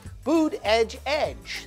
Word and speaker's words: Buttigieg: That guy is Pete Buttigieg. That's B-U-T-T-I-G-I-E-G. Boom, nailed it. Ding! Boot edge edge. That's how you say it, except fast.